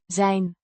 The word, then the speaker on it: zijn: Zane means his pronounced Zane rhymes with fine.